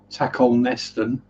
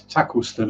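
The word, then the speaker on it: Tacolneston: wrong on english tv i've heard presenters pronounce tackle nesting and acosta see right now it's tackleston and cossey yeah so i think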